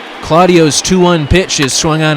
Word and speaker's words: Claudio: an opportunity Alex Claudio it's actually pronounced Alex accent over the ACE or not Alex Alex after Puerto Rico Blackman swings and pulls one foul full count from San Juan Claudio 28 years old went